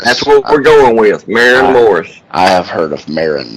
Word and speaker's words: Maren Morris: then yeah she probably won worth worth knowing Marin Morris maybe maybe Marin Morris am I saying it